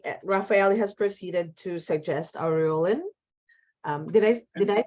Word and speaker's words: aureolin: So Raphael has proceeded to suggest aureolin. Did I pronounce it correctly, John? Yeah, I just say Aurelian.